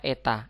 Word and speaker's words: eta: keluaran terhadap daya input ini membacanya adalah Eta dibacanya Eta Eta adalah daya out percayain kali 100% Hai